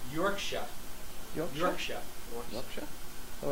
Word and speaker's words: Yorkshire: And Crowe says, I know it's the American way, but Yorkshire is pronounced Yorkshire.